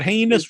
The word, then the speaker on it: heinous: is just a thought heinous rhymes with anus maybe we could get